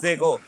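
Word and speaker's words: zéro: এখন পড়াশি সংখ্যাটা আমাদের কাছে ইংলিশে বলে হচ্ছে জিরো দ্বারা এনে কুই জিরো, ওরা বলে হচ্ছে জেগো।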